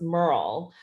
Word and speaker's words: MMRL: metadata research lab mmrl which we pronounce as merle merle works at the intersection